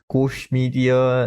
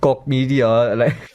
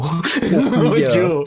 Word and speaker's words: Koch Media: It's not pronounced Koch Media, like most people presume. Oh no. Koch Media, something like that.